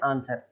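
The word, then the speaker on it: answer: डब्लू के पहले अगर एस आ रहा है तो वो जो डब्लू है वो डब्लू साइलेंट हो जाएगा। तो इसको हम पढ़ते हैं आंसर, है ना, आंसर, ऐसा नहीं बोलना है आंसर, केवल पढ़ते हैं हम आंसर।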